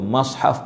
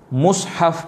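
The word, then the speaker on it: مصحف: Dia kata terdapat 3 cara bacaan pada kalimah al-mushaf. Tu dia. Mim dibariskan hadapan, bawah dan atas. So saya kata itu mushaf pun boleh, mushaf pun boleh, mishaf pun boleh.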